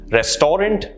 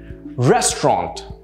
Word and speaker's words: restaurant: mispronounced in various ways restorant well i can't think of the other ones but here's the right pronunciation for you restaurant re is the stress sound restaurant and notice how